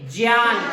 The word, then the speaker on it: ज्ञान: इस वजह से इसका जो उच्चारण होता है वो गे ना होकर क्या होता है? जय। क्या होता है? जय। जैसे हम इसको अगर पढ़ेंगे इसको, तो हम ज्ञान को क्या पढ़ेंगे? ज्ञान।